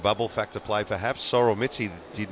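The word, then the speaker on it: Mizzi: Actually, Matthew, it is in fact Mitzi. That is exactly how it's pronounced.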